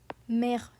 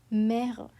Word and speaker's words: mère: It opens your mouth up into an I sound, like the word bed.